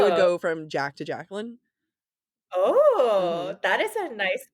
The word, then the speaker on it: Jacqueline: I mean, if you say it correctly, Jacqueline, but like Jacqueline, French.